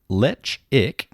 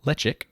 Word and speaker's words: Ledaig: Pronounced lechic. Oh, lechic.